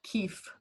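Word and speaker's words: kief: excise tax structure yeah it sounds like leaf but it's spelled k-i-e-f keefe yeah so anthony it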